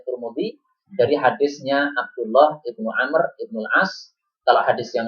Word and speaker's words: Amr: Ibnu Umar dengan Ibnu Amr kalau Ibnu Umar itu setelah tidak ada wnya tapi kalau Ibnu am nah seperti ini Ibnu am ya setelah itu ada W itu cara membacanya jadi berbeda inialah dalil yang pertama